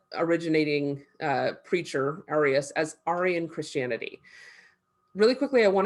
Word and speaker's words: Arian: originating preacher, Arius, as Arian Christianity. Really quickly, I want to note, this is Arian, not Arian. So this has nothing to do with Iranian peoples or white supremacists. This is Arius Arian.